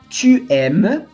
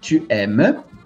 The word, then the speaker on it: aimes: Tu aimes, avec un S, com um Szinho. Tu aimes. Il aime. Fica igual. Então, a única diferença aqui é que o tu ganhou um S não pronunciado.